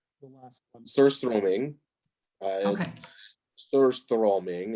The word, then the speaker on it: surströmming: Surströmming is how you pronounce it in Swedish.